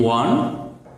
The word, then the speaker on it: one: Dear learners, if we get a vowel sound O at the beginning of any word, that is, if we get a word one, O-N-E, one, the pronunciation is one.